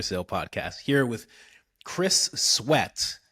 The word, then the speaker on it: Sweat: Is it Chris Sweat? Is it pronounced differently? Is there like a French connotation to it, like Sweaté or Nah, something? I'm like No? 10th generation American, but it is sweat. You said it right.